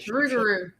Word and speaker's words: Rougarou: And uh I saw one I reviewed one a couple years back on the the Rougarou. I think I'm pronouncing it correctly. Yeah, Rougarou.